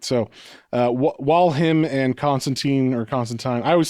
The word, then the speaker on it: Constantine: In the in the actual comic in one issue, he was like, "It's Constantine." And he like rhymes with wine.